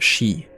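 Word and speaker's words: sìth: So it's like she it's bad luck to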